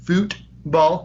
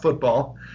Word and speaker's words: Futbol: You got to make sure you say it right. Futbol, not football.